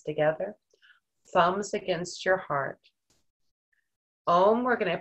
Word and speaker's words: Om: Om, we're gonna pronounce A-U-M, om.